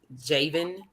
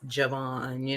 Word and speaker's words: Javon: They do that with my son too, like because the way his name is spelled, they call him Javen, and I'm like, that's not his name, it's Javon.